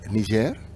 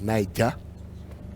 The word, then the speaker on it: Niger: We're still the country of Niger, not pronounced Niger. Niger is the river in Nigeria, and Niger State is also the state in Nigeria. Niger, former French colony.